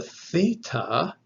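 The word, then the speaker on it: θ: of the voice box the theta is a voiceless dental aspirate it is th without vibrating the voice box and then of course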